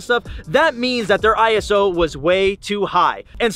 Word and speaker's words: ISO: Some people say ISO, ISO, it's ISO, bro.